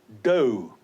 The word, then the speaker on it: dough: Then we have dough. D-O-U-G-H, and the O-U-G-H is pronounced as O.